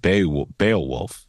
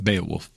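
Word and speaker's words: Beowulf: says 13th Warrior is also a retelling of bay bale wolf is that how you say it Bale wolf B wolf yeah B wolf yeah uh new 206 says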